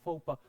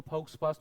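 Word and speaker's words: faux pas: एंड अगर आप pronunciation भूलेंगे तो मेक श्योर कि इसके आगे अपना प्रोनाउंसिएशन भी लिख ले, सो दैट जब भी आप दोबारा पढ़े तो उसको फाउक्स पास मत पढ़ ले, एंड it will sound very weird.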